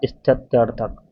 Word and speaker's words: स्थित्यर्थक: इसका सही उच्चारण होगा स्थत्यर्थक।